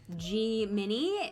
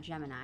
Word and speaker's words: Gemini: Gemini is the actual pronunciation, not Gemini. Yes, right. It's not pronounced Gemini. Make sure you tell everyone that it's Gemini.